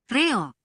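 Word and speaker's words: Reog: Listen to it. Reo. Nah. Okay, this is the correct pronunciation, but unfortunately, it only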